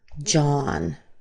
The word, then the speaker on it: John: So John John, you'll want to make sure that your A is the same as the A as in father.